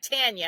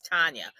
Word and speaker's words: Tanya: But I lived in the South, and people still till this day will be like Tanya, and I'm like, no, it's Tanya.